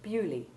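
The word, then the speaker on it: Beaulieu: And we can add Bewley, the anglicised pronunciation of the stately home and village of Lord Montagu in Hampshire, and meaning literally beautiful place.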